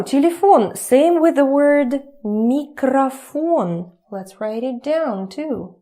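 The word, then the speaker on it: микрофон: Because we already know when stressing goes here, this one turns to a.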